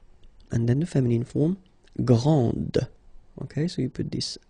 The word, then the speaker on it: grand: exactly the same thing this final D is not pronounced okay so and then the feminine form Grand okay so you put